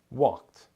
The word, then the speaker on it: walked: Walked ends with the T sound. Walked.